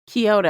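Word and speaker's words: Kiata: There's no O in it. Oh, Kyota. K I A T A. Kyota. I think that's how the the narrator pronounced it.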